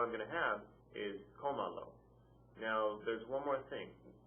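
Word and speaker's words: cómalo: So you have comalo, and I'll repeat the rule again.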